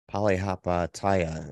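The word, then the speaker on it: Palihapitiya: Bitcoin Bowl good luck saying his last name polyhapa Taya is how you say it who blamed the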